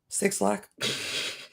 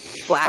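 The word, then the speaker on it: 6LACK: 6 Lack. Not Black.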